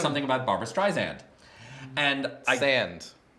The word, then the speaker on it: Streisand: No, okay, so this was during the midpoint, and Tito said something about Barbara Streisand. And Sand. Barbara Streisand. Sand. You're Right. saying it wrong again after we cleared it.